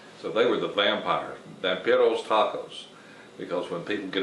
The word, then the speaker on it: Vampiros: You would pronounce it Vampiros, and they had a vampire,